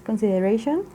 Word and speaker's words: consideration: mejor en el español, la que se pronuncia con mayor fuerza es la RA, esta es la sílaba tónica.